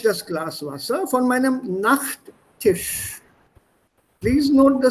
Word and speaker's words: Nachttisch: The pronunciation for both is the same, Nachttisch. So you don't have to necessarily say Nachttisch. No, Nachttisch. It sounds the same, but when you write,